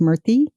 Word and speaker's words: Murthy: I think his last name is pronounced Murthy.